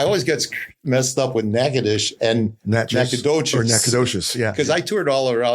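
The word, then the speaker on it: Natchitoches: It's It's actually Nacadocious, but you know how people from Louisiana always change? Yeah. It's Nackadish.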